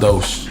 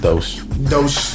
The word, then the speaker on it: Doge: It's called Doge. Doge. It's spelled Dodge, but it's Doge.